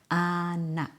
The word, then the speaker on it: anak: Final K often becomes a glottal stop.